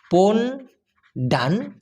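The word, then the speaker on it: pondan: লিঙ্গ সেটা হচ্ছে পন্ডান পি ও এন ডি এন উচ্চারণটা হবে পন্ডান যেটার মানে হচ্ছে আপনার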